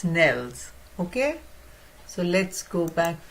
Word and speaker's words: organelles: So, I was also pronouncing wrong. I was saying organelles. It's not Nellies, it's Nels.